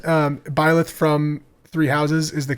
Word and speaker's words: Byleth: So they announced that, but the other things that they announced with, besides Byleth, I used to call him Blythe, but I guess that's not how you say his name.